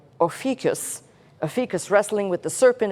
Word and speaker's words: Ophiuchus: The decans of Scorpion, the serpent struggling with, I got to say his name right, Ophiuchus.